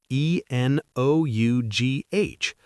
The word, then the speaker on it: enough: E N O U G H. But you say it like enough. That gh makes an F sound.